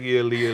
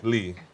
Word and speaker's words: Lea: because her name was built Oh Ellie yeah Leah Leah Leah say Leah yeah Lee it's Old English and so um yeah I